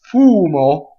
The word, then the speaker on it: fumo: it okay so the next word is fumo so the accent is on the first syllable and the who is long BM is single next word Sol Double